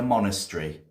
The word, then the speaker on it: monastery: The book was kept in a monastery. What is a monastery? Monastery. That's how we say it in England.